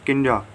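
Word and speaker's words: kinda: Next contraction है किंजा, काइंड of, pronunciation किंजा।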